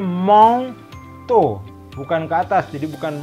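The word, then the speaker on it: manteau: Ya, makanya dibacanya mong to, bukan ke atas.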